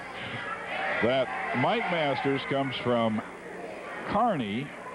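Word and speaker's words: Kearny: would pronounce it uh Kerney too I believe it is Nebraska Kerney Kerney is what I would pronounce it but he says it's Carney back there name after some guy whose name was Carney so Larry bowling I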